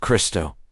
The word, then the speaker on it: Krishna: In ancient Bengali and Eastern dialects, Krishna is pronounced Christo. Phonetically, KRSN and KRST are the same vibration.